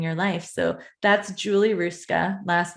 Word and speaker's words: Hruska: So that's Julie Hruska. Last name is Hruska. Little strange. The H is silent.